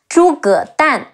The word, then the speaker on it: Zhuge Dan: Chong, G-E-R, Jia, Chi Ong, Chong, Jia Chong, Zhuge Dan, Zhi Wu Zhu, Ge E Ge, De An